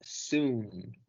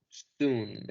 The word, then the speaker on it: soon: tiempo corto, se pronuncia soon, soon. En algunos casos el diptongo del doble O se pronuncia como U, no siempre, pero este sí es uno de esos casos, así que vamos a pronunciar soon.